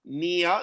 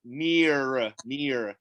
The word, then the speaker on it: near: we have near future, near. So Australia, we don't usually pronounce the R sound. So we say it's the near future. If you're USA is like near future, but Australia near future.